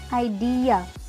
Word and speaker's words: idea: अब और इसकी करेक्ट प्रोनाउंसिएशन क्या है, आइडिया, आइडिया। क्या जब आप बोलेंगे ये वर्ड तो आपको डी पे पूरा स्ट्रेस डालना है, आइडिया, I have got an idea, idea।